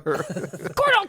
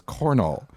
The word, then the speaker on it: Cornell: Cornhole. Don't make me mad. My name is not Cornhole. It's Cornell.